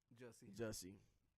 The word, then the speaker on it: Jussie: How you pronounce his first name? Jussie.